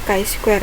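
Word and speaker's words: chi-square: Goodness of it adalah k Square itu bacanya k Square ya Nah pengujian ini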